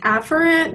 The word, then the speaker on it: afferent: ferret is really pronounced afferent but sometimes it's hard to hear the difference between afferent and efferent so I like to